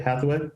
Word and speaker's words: Hatheway: Am I pronouncing that right? Hatheway?